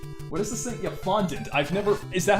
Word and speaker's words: fondant: Yeah, fondant.